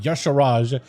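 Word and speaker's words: Y'Shaarj: Yasharaj, you have the idol in a Zoth, idol Yakaron, and idol Cathun.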